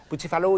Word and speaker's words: Bucefalo: I don't know how you pronounce in English, Bucephalus. Bucefalo in Italiano.